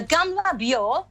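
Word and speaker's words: Gamla Bíó: The Gamla Biò, I hope I pronounce it correctly.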